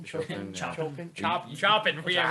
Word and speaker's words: Chopin: pronounce it? Chopin, Chopin, yeah.